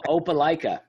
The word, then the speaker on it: Opelika: O- Opelika.